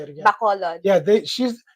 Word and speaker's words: Bacolod: Bacolod.